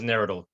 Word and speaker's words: Naradil: Yeah, the pronunciation is Neradil.